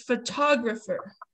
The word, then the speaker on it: photographer: do you pronounce it it looks like with an er on the end right photograph but that's not how you pronounce it it's photographer so we put the emphasis right here photographer i don't know why